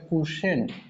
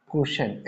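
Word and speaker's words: quotient: result निकल के आता है उसको बोलते हैं कशेंट इसको बोलेंगे कशेंट स्पेलिंग देखना है q यू ओ टी आई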